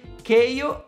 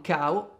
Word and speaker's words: Kao: reboot del platform 3D Keio, sì, ho scoperto che si pronuncia così e non Kao, The Kangaroo.